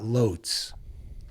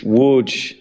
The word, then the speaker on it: Łódź: It's spelled with an L, but you keep telling me it's not Lotz. It's Łódź. It's an L with a slash through it, which is more like a W, but it's Łódź.